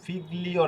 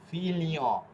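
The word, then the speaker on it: figlio: এই যে এটা কিন্তু ফিগলিও না, এটা হবে কি ফিলিও, ফিলিও, ঠিক আছে।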